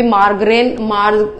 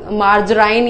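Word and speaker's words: margarine: आजकल एक बटर की जगह भी मार्ग्रेन मार्जराइन या मार्ग्रेन करके उसको प्रोनाउंस करते हैं, ठीक है, वो क्या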